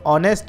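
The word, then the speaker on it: honest: सभी में से जो ऑनेस्ट है इसमें एच नहीं बोलता है केवल ऑनेस्ट पढ़ा जाता है इसे अतः 20 का सही उत्तर होगा इसमें एच साइलेंट है जिस प्रकार वृत्त का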